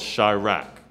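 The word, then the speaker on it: Chi-Raq: there's a movie called Chi-Rack. Chi-Rack. It's C-H-I-Rack. And they spell it like Iraq, but instead of the I, it's Chi, C-H-I.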